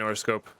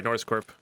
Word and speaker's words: Noroscorp: And how are you today, Noroscope? Sorry, Noroscorp. I know it's not Noroscope.